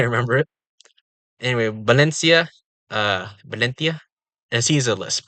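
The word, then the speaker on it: Valencia: balona and here is valentia oh and the V is a b less confusing actually uh lots of languages have V's pronounced as B's and even in English they sometimes sound like B uh a way I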